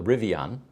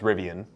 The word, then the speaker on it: Rivian: the rivion and um it turns out that I'm pronouncing that incorrectly it's it's most commonly pronounced rivian because it's a mixture of Indian River and they kind of put the two together and that's because it